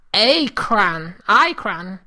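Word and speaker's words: Aecran: My name there is Acran. It's spelled A-E-C-R-A-N.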